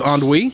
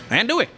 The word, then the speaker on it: andouille: having an argument with somebody about how you pronounce the word andouille. They were insisting it was andouille, and I was like, no.